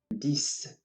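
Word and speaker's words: dix: so we have nuf dis once again this again as we have the x at the end of the word it is pronounced as an s ohms once again alms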